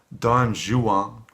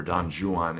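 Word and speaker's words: Don Juan: I think it's it's very challenging it's like dong Xuan by Lord Byron and yes that is the pronunciation I'm told for dong Xuan in England at the time they even pronounced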